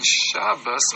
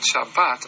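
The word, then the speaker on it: שבת: Phonetically, and more than that, you will see a relation between Shabbos, or the way the Sfardim pronounce it, Shabbat, and Shvat.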